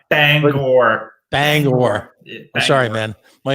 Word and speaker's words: Bangor: We did Portland, we did Bangor, we did Lewiston. Oh, you said it wrong. Oh, you said it wrong. Bangor.